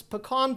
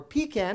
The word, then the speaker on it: pecan: the ever popular Sam's pecan pie, or pecan if you'd prefer I say it like that, $12.98 back at my local store.